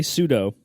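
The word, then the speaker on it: sudo: I'm proud of it I say pseudo and I know it's super user do I'm very aware of this however I don't care to me pseudo is its own word and so it gets its own pronunciation yeah I don't think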